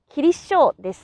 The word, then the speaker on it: Kinisou: But if you say it in the same way as my pronunciation, they will understand it. If you pronounce it a little longer like Mr. Chukwa, they will understand it even more.